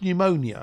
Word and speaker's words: pneumonia: Like pneumonia. It's a silent P.